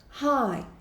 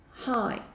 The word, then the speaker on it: high: high que significa alto e a gente não pronuncia esse G aqui tá então é sempre HI como se você tivesse dando Oi mesmo high high exemplo that Mountain that